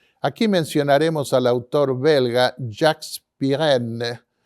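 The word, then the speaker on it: Jacques Pirenne: mencionaremos al autor belga Jack piren pronunciado en francés Quien escribió una extensa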